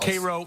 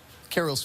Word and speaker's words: Cairo: Cairo, not Cairo, Cairo. Spelled Cairo, but pronounced Cairo like the syrup.